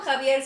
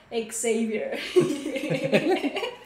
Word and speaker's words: Xavier: pronuncia como Javier, se escribe Xavier y en EEU se pronuncia Xavier.